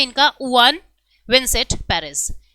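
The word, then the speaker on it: Juan: नाम है इनका उन विनसेंट पेरिस उन जे साइलेंट रहेगा वान विंसेट पेरिस जो है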